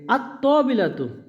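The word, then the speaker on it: الطاولةُ: কিন্তু এই তায়ের ক্ষেত্রে আল যোগ হলে লামটা উচ্চারণ হচ্ছে না।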